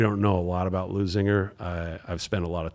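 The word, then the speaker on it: Leuzinger: All right, the Chargers taking on Lunzinger. Is that how you pronounce it? Lusinger. Oh, Loser. Well, hopefully they're going to be losing the game. L-E-U, Zinger. Lusinger. Yeah.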